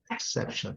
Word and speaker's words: exception: Sempre lembrando, gente, que como é uma língua, né, stress syllable, é uma língua que você dá uma força muito grande na sílaba forte, né, e o resto fraco, né? Exception. É sempre nesse finalzinho aqui, exception, bem fraquinho, né?